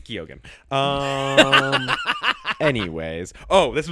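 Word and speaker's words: Keoghan: He hangs out with Barry Keegan all the time. It's Gogan.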